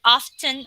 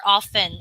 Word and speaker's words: often: always all right okay by the way class we can we can uh read the word often or often okay there are two kinds of pronunciation for that but all are acceptable okay so these are